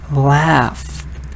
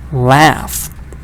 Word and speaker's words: laugh: in the word photo GH can also be the first sound for example in the word laugh laugh now when it comes to